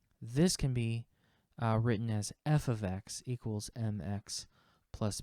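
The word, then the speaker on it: f(x): it so y equals f of X okay this is pronounced f of X this is not F times X this is not F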